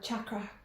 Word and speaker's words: chakra: have the third eye chakra or chakra as some people pronounce it um so you're